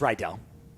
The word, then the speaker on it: Riedel: Riedel Phonetically, how I phonetically remember is read a book. Riedel. I said it's read, like read a book, Riedel.